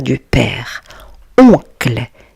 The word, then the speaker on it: oncle: Oncle. Ici, la lettre O et la lettre N vont former le son oncle.